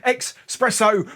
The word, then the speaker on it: espresso: It's Espresso Martini time, and for all you haters, espresso. We all know espresso is spelt with an X and not an S, so espresso.